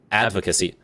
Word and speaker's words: advocacy: pronunciation advocacy advocacy advocacy advocacy okay so the accent is on the first syllable okay advocacy what voxacy